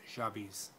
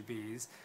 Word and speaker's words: Jabiz: Jabiz, which is actually, the way my mom pronounces it, is Jabiz. And Jabiz, it sounds weird for me to pronounce it that way because I've gotten so used to Jabiz, but it apparently means